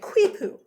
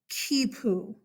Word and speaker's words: quipu: It's easy to look at it and be like, quipu. No, kipu.